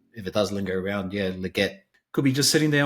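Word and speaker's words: Legette: And then potentially a deep, or wait and see how he goes now again under Andy Dalton, is Xavier Leggetti.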